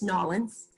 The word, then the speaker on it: New Orleans: Again, Hurricane Katrina, New Orleans is still not the same, and I know it's Nolans.